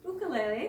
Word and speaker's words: ukulele: It's a ukulele! Awesome. Actually pronounced ukulele because it is a traditional Hawaiian instrument.